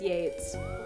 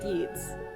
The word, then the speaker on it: Yeats: crowley ash yes i know it is pronounced yates we are calling it yeets it's yeats now